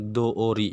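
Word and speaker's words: 通り: Yotei no tori kalau pakai no dibacanya tori, tapi kalau nggak pakai no itu dibacanya doori ya minasang.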